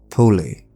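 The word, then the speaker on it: Polly: Poli made an unexpected appearance, or I should say Poli, because that's like the correct pronunciation, confronting Jimmy in his own psyche.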